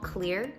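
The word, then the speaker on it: Xlear: This is called Clear. It's spelled with an X, and it is a xylitol nasal spray.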